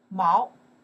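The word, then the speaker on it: 毛: It's a character we pronounce the Mao.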